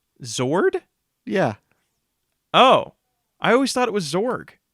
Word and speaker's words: Zord: Hey, real question: are you pronouncing it Zorg with a G? Yes. Why? How do you pronounce it? With a D. Zord?